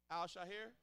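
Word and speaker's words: Al-Shaair: On the Texans side, you had DB Al-Shahir. Shahir? How you say his name? Shahir? Yeah. Al-Shahir.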